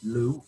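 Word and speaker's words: Lugh: celtic deity is what we call in irish lu l-u-g-h uh in modern irish it's spelled l u accent and that deity has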